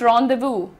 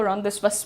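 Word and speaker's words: rendezvous: अच्छा, प्रोनाउंसिएशन देखिए, apostrophe, apostrophe नहीं है ये, apostrophe, apostrophe, pronounce रॉन्डेवू, इट इज रॉन्डेवू। बहुत सारे लोग इसको रॉन्डेवस बोलते हैं, लेकिन इट इज रॉन्डेवू।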